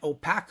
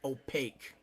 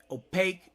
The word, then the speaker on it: opaque: a movie it's not gonna go well and OPIC ooh won't let light through and I know PACU is a cross between a llama and an alpaca the word is pronounced opaque okay opaque no light gets through electrical conductivity we've already